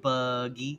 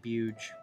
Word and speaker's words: Buge: I've been trying to like pronounce Buge differently, but I keep just saying like buggy or bug. But it really is iconically Buge, and I gotta just accept that.